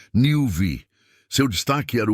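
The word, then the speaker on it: NeuV: Esse é o conceito do Honda Nelve. Pronuncia-se Newv.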